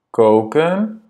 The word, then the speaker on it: koken: Wij koken en jullie koken. Et fais bien attention à la double voyelle ici. Hein. Koken, c'est un O long.